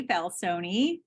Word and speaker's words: Falsone: name is and you do pronounce my last name with an e balsoni um been a